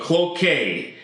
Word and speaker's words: Cloquet: Cloquet is the pronunciation, not to be confused with cloaca.